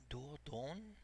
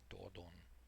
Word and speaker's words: Dordogne: You're in Dor Dor Dordogne Dordogne Dordogne. I don't know where that is. Dordogne.